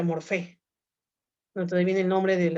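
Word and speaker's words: μορφή: Jóvenes, en griego la materia se pronuncia ile, y la forma en griego se pronuncia morfé.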